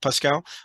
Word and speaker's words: Pascal: Yeah, Did I pronounce the first name right? I believe Pascal. so. Yeah, Pascal.